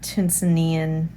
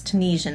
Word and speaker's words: Tunisian: for me that is tunzanian tunisian um crochet i can never pronounce it right it's tunisian i'm pretty sure um or afghan crochet